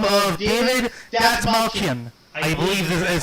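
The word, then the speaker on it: Dastmalchian: by a gentleman by the name of David Datsmalkian. I believe this is how you pronounce the name.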